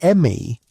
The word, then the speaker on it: ME: The ME, pronounced approximately like the English word may, were divine powers or decrees governing every aspect of civilized existence.